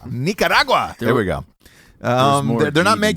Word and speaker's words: Nicaragua: Don't speed the pronunciation on that. You need a little accent on it. Yeah. to make it Nicaragua. Nicaragua.